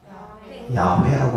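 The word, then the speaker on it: יהוה: 여호와 하나님의 이름은 야훼라고 합니다. 히브리식 발음에 좀 더 접근하면.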